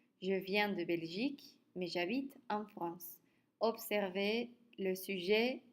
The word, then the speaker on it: j'habite: avec H et ce cette lettre n'est pas prononcé et alors on a le son a c'est une voyelle il faut mettre dans ce cas-là j apostrophe et on prononce j'habite je viens de Belgique